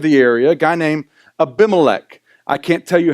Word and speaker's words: Abimelech: But Abimelech is how you say his name, and you'll see his name pop up in a minute.